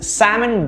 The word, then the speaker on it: salmon: right this is incorrect it's incorrectly pronounced with an l um the actual pronunciation is salmon it is salmon breeding season this year and you'll see a lot of them swimming up the river right salmon notice the absence of l it's sam pronounced and n which is which is milder and softer salmon what about this the